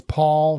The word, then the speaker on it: Poll: iron County real estate Paul sounds like P A it's spelled p o l l and and my wife says it the best it's Paul rhymes with doll and I often ask